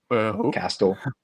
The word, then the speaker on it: Castle: Uh, Castell, how you pronounce the name? Castle.